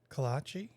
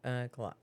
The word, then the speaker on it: kolache: 2 ways to pronounce it. Kolache? Kolache and collage. Because we Americanized it by putting an E at the end.